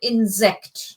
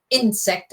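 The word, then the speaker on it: Insekt: It's it's the emphasis is on insect, not insect as in English. So it's insect. Vasa is insect. So the emphasis is on the second syllable.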